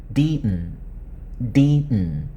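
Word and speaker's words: Deaton: D 혀끝이 앞 윗니 뒷부분에 붙어있으면 붙은 혀끝 떼지 말고 디튼, 존 디튼 이렇게 하면 따라할 수 있어요.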